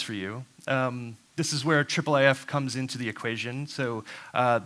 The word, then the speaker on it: IIIF: of words and syllables we almost always say triple AF and so what that